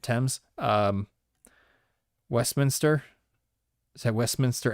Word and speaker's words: Thames: let's go i know the river thames right that's how you say it thames um westminster is that